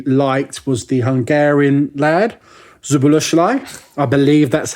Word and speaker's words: Szoboszlai: So the one you signed that I really liked was the Hungarian lad, Szoboszlai. I believe that's how it's pronounced.